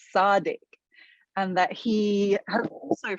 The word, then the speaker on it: Sadiq: at this event that his name is not sadiq khan it's sardic and that he had